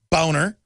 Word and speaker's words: Boehner: our government Boehner Boner it's his real name why not just pronounce